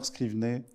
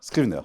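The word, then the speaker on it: Scrivener: Euh en 79, il y a eu une loi appelée la loi, alors je sais pas comment la prononce, Scrivner. Scrivet, Scrivner. Scrivner, très bien.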